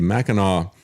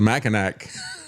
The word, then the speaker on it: Mackinac: and yet our guest has also founded the Mackinac Center for Public Policy. Did I say that correctly? Yes, you did. Yeah, we were just laughing about that off air because I called it the Mackinac Center.